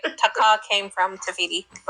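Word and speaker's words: Te Fiti: It's Teiti.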